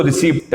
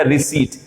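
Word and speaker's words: receipt: आउट कर रहा हूं, आप बोलते हैं उसको रिसीप्ट, क्योंकि पी है ना, इस पी को आप पढ़ते हैं, पी को हम साइलेंट करेंगे। आज के बाद कभी इस पी को पढ़ेंगे नहीं, हम रिसीप्ट नहीं बोलेंगे, पी साइलेंट हो जाएगा, रिसीट।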